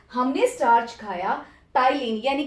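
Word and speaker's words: ptyalin: उस salivary enzyme को हम लोग कहते हैं एमाइलेज और टाइलिन. P remains silent, PTYLIN.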